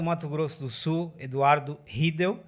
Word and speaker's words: Riedel: Governador do estado do Mato Grosso do Sul, Eduardo Riedel. A gente não pronuncia o E que tem aqui no meio.